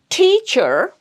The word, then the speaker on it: teacher: So it's teacher, teacher. It's longer and it's stronger and it's louder than the next syllable.